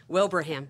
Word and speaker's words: Wilbraham: Wilbraham.